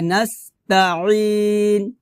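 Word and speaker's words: نستعين: এখানে আমরা ওয়া ইয়াকা নাস্তাইন এভাবে বলি, তাইন বলি, তাইন হবে না, কারণ এটা হচ্ছে আইন, আইনটা আপনাকে অবশ্যই গলার মাঝখান থেকে চাপ দিয়ে বের করে উচ্চারণ করতে হবে, একটু কষ্ট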